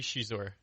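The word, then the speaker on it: Xizor: How do you say Shizor? Do you say Shizor? You say Zizor. I think it's supposed to be Shizor. Shizor is how it is in the audio book.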